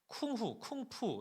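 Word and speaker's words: 功夫: 그래서 공부라는 한자를 이 중국어로 쿵푸 이렇게 발음을 하지 않습니까?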